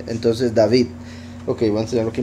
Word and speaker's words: David: Solo que la V del medio no se no se pronuncia como o, se pronuncia como v. Entonces, David.